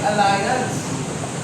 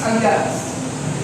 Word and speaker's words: Allianz: kanina bangit ni joh when people read Our name that's normally how you pronounce it Ah si alliance but in reality it is alliance alliance but it is okay because Alliance is really the German for alliance because of our work